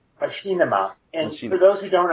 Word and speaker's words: Machinima: is a it's a popular it's first it's pronounced machima and for those who don't understand it's actually